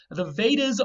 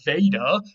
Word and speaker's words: Veda: The W has turned to V already in Sanskrit. So you have the word Veda, which comes from weid.